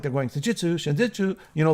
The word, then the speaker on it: Senjutsu: Title track Senjutsu, that's how you pronounce it, is is where he shines the most because he's bringing it home with that song.